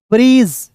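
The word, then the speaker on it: bridge: दोस्तों क्या करना है जब डी और जी एक साथ रहेगा तो इसको डी को साइलेंट करेंगे क्लियर हो गया ना तो यहां देखेंगे बी आर आई ब्री बी आर देखिए बी आर को क्या पढ़ते हैं ब्र आई का उच्चारण ई के रूप में ब्री हो गया डी और जी एक साथ आया तो डी को साइलेंट और जी का दोस्तों ज होता है ब्रीज़ बी आर आई डी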